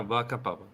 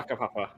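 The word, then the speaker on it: whakapapa: Yeah, Waka Papa. Waka Pop. Waka Papa. Waka Papa. Is anyone going to actually Waka pronounce it?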